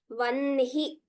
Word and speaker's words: वह्नि: second line, last word, Vanhi Mandala Vasini. Though it is written a little differently, the way we pronounce it is like numbers 1, 2, 3, Vanhi.